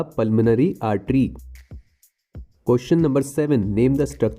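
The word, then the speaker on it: pulmonary: पल्मोनरी में ओ silent है।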